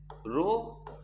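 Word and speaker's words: ρ: Resistivity है यानी रो, इसको पढ़ते क्या है बेटे, इसको देखो, इसको पढ़ते हम लोग आर एच ओ, ऐसे रो, हाँ एकदम साइलेंट में रखना रो.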